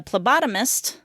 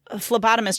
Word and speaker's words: phlebotomist: I went to give blood once, and the phlebotomist, is that how you say it? Phlebotomist? I thought it was... Phlebotomist. It does have a PH at the beginning, so I would go ph.